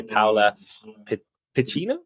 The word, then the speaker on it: Paola Piccinno: today today I'm excited to be joined by paa Pino is that how you pronounce your name amazing sorry the the Italian